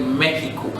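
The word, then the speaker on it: México: mexico in the english in spain we say mexico so it's the same spelling just that it has an accent on the e but the x is produced that he not x so right now we've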